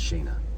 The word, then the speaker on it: Shayna: And yes, that's how her name is pronounced, Shayna. So there you go. People were debating. Get back in here. They were debating how to pronounce it. They were debating how to pronounce it. Long A.